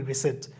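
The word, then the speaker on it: receipt: গিয়ে ট্যারোডাক্টিল রিসেট রিসিভ আমরা অনেকে বলি রিসিভ মানে রিসিভ এটা রিসিভ হবে না এটা হবে রিসেট এটা অনেক খেয়াল করতে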